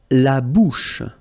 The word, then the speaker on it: bouche: La bouche. So remember, CH combined together will give you this sh sound.